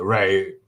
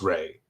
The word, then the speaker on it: Ra: So ray this is ammon ra you've probably heard that pronunciation although people have switched to the proper pronunciation being ra and now people call him raymoon is still a moon.